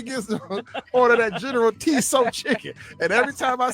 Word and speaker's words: Tso: I know it's General So chicken.